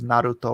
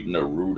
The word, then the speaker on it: Naruto: like how mike pronounces naruto right Naruto Naruto I used to say no rude oh yeah as I